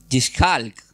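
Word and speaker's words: יצחק: Y ese nombre del hebreo se escribe, empieza con Y. Es un poco difícil de pronunciar. Es Yishhalk. Sería la Y, la I latina, la T, la Z, la J, la A y la L.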